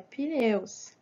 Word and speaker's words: pneus: a gente sabe que esse P ele é mudo, é pneus.